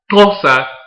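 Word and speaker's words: Xhosa: are the tulsa yes tulsa is pronounced with that little click in the beginning and i will have you know that it took a lot of practice to be able to say the name correctly the fossa were a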